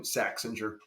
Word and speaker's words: Saxinger: I saying it right saxinger oh yeah if you the way you first said it would be in German American saxinger yeah call me sax